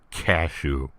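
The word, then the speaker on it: Kashou: his name is cashew yes his name is pronounced as the common nut although it's a simple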